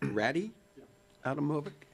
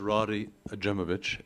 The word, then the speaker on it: Rody Ajmovich: And I'm trying to read handwriting and pronunciation. It looks like Ratty Adamovic. Yep. Thank you, sir. Yeah, hi. My name is Roddy Ajemovich, and I'm at 1512 Aspenwood Street.